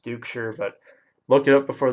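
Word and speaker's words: Duchscherer: last name you're gonna wonder how it is pronounced Duke sure but look it up before the video to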